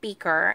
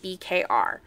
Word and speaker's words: BKR: And then we have the, I've heard this pronounced two different ways. I've heard it pronounced beaker, and then I've heard people call it BKR.